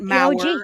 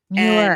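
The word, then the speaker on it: Meurer: pronounce Terry Dunn-Muir's name, it's Muir. Pissing me off. It's Muir. It's Terry Dunn-Muir. I heard that from the horse's mouth. She told me herself. Well-known. That's how you pronounce her name. She's been doing documentaries forever. She's like one of the creators of Unsolved Mysteries. Her name is not Mauer.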